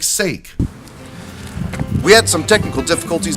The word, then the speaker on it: sake: green episode after all also I learned it's pronounced socket the funny thing is were pretty much done